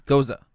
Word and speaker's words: Gose: It says Goza. Pronounced Goza.